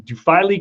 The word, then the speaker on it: Duphily: It's a short I then? Yeah. Yes, Duphily.